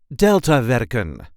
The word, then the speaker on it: Deltawerken: and this time we will see how to pronounce in a regular Dutch accent delta veren or delta works in English a series of